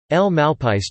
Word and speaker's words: El Malpais: El Malpais translates to "the Badlands" in Spanish and is pronounced mal, rhymes with wall, pies.